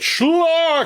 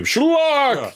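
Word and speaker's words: Schlock: That's how you have to say it. Schllock. Oh yeah. And the check out the trailer folks on YouTube. Schllock. You have to say it like that.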